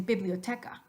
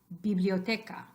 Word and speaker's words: biblioteca: video thank God but you might hear English speakers saying biblioteca biblioteca that is a rule that would work in English but it doesn't work in Spanish so what you want is the ahh so after me please repeat ah biblioteca biblioteca and then sometimes the